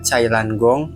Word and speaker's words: Jailangkung: Asal-usul Jalengkung atau dalam pelafalan aslinya, Cailan Gong berasal dari komunitas Tionghua Kuno.